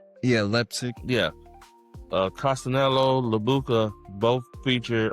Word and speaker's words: Leipzig: Leipzig. Yeah, Leipzig.